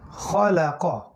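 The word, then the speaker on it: خلق: একসাথে হলো তাহলে খলা ক, খলা ক, খলা ক। খয়ের উচ্চারণ খা হবে না, আর কফের উচ্চারণ কা হবে না।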